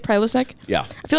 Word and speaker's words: Prilosec: I feel like a Prilosec that's how you say it, Prilosec.